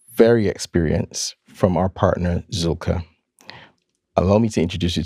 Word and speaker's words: Zühlke: So Zulka and thank you for pronouncing it correctly.